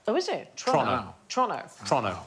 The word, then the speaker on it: Toronto: So it's Toronto, not Toronto. Oh, is it? Toronto.